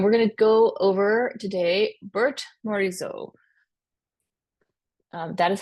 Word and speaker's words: Berthe Morisot: gonna go over today Bert morizo um that is how you pronounce her name looks like Bertha but uh she's French it's pronounced Bert morizo she is the first